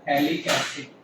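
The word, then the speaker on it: फ़्थैलिक एसिड: अगर COOH के साथ एक COOH और आ जाता है पीए साइलेंट है। पीए को नहीं बोलना है आपको तो ये हो जाएगा थैलिक एसिड।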